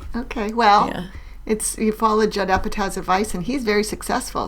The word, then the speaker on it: Apatow: I was listening to a podcast today with Armchair Expert with Judd Apatow. Oh, is that how you pronounce it? Apatow?